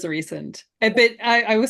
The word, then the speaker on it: Rhysand: Rhysand. Rhysand? Rhysand. Yeah. Rhysand. That's it's a Welsh name, and that is the Welsh pronunciation, so it's the only correct one in my opinion.